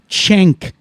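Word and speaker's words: Cenk: the show, and his name is Cen K, pronounced Chenk.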